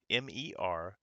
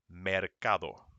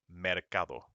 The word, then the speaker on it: mercado: of another one uh like the word market m-e-r-c-a-d-o uh is so it's supposed to be pronounced mercado mercado but if you say it with your heavy american accent is mercado and you can see it just it doesn't